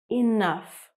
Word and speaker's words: enough: It's the word enough. And as you can see, GH is at the end of the word. And what can you hear? Can you hear a G sound? Or a silent GH? Well, no, actually, you can hear an F sound.